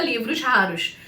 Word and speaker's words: Livros Raros: raros no final e juntando tudo fica Livros Raros. É assim que se pronuncia.